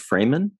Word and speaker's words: Fraeman: fray got it is your last name pronounced freeman uh yes i should have said